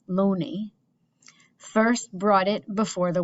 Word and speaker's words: Looney: The Oxford theory has been doing the rounds since 1920, when an English scholar, Thomas Looney, pronounced Looney, first brought it before the world.